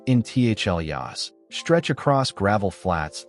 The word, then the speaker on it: intaglios: The Blythe intaglios, pronounced intaglios, stretch across gravel flats like pale ghosts.